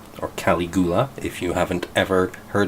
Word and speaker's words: Caligula: It's Caligula, or Caligula, if you haven't ever heard it pronounced before.